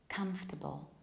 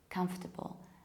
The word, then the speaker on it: comfortable: When you take a look at this word, you have to imagine that we get rid of middle OR and we quickly go from F to T, ft, ft, and then you pronounce A like I, comft.